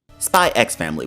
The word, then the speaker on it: Spy x Family: I'm calling it that, I'm pronouncing the X. Fight me. Spy X Family was the comedy I